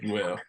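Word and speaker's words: Jewell: I have a friend who spells her name like that and it's pronounced Jewel.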